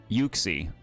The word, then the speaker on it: Yuxie: I see Oxy statues or Yuxie.